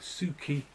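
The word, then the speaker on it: Suchy: That's pronounced Suki, apparently.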